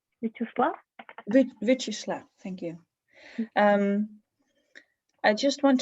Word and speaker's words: Vyacheslav: to Andre and forgive me if I don't pronounce it right. Vyacheslav? Vyacheslav, thank you.